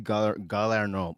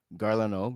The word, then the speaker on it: Garlano: So Alexi Galarno, pardon me, Garlano, yeah, that's how you pronounce it.